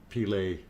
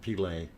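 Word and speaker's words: Pele: uh sending map now peely's hair uh in iceland it's uh witch's hair pilay yeah like the brazilian footballer okay um very good uh didn't know how to pronounce it but pilay okay um yeah which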